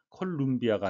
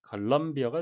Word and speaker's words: Columbia: 3D 프린팅이 대세가 되기 시작한 것은 Columbia 철자 U의 발음은 U라고 발음되는 건 거의 없고요. 주로 어라고 발음되죠. 콜롬비아가 아니라 Columbia가 되겠습니다.